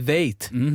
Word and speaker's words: Väth: Sven Väth, as the Germans pronounce it, you know.